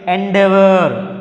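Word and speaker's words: endeavor: So our rule prakaramga, according to rule, we have to make the stress on the second syllable starting letter.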